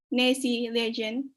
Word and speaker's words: Nessie: region spelling it correctly how do we pronounce the nasi nessie yes um so basically yeah